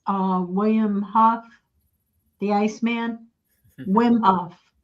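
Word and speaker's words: Wim Hof: Um George Barnhill says uh William Huff the Iceman Wimhof. Wimhof. Yes. Yeah. Yes. Yeah. I got his name wrong.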